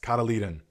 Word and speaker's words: cotyledon: Cotyledon. It's pronounced. Okay, yes. Cotyledon.